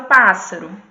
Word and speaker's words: pássaro: Como a Daphne observou muito bem, esse A inicial ele é pronunciado com mais força.